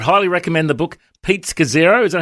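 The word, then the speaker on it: Scazzero: And I would highly recommend the book Pete Scazero. Is that how you pronounce the name? That's it. Pete Scazero.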